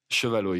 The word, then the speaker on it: Chevalier: Yeah, and I've heard you many times in many interviews over the years mention the Chevalot family. Is that the correct pronunciation? Chevalot, yeah, Chevalot.